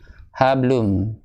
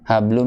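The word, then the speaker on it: حبل: Iya, itu kalau kayak gitu bacanya mbaknya masuk ke huruf lam. Habl. Iya. Harusnya hablum. Ya. Fi jidiha hablum. Iya, qalqalahnya aja maksimalin.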